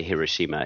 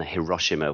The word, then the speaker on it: Hiroshima: The main thing I know is that you're supposed to try and put the equal emphasis on each syllable, which is very hard for us Westerners used to emphasizing, the second or third syllable in a word. So, I believe the correct way to say Hiroshima is that way rather than Hiroshima, which is often how we would have said it in the West.